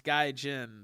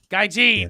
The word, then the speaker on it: gaijin: white wrestlers in japan it's guy jin that's what i was trying to think of the name gaijin yes i said it wrong of course like i